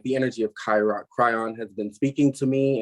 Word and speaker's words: Kryon: lot to do with chiron's energy the kryon excuse me for the mispronunciation the energy um of